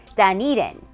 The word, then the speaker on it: Dunedin: Before we continue, let's make sure that we know that the city we're exploring today is Dunedin. Dunedin. And now that we know how to say it correctly, we can go ahead and start exploring.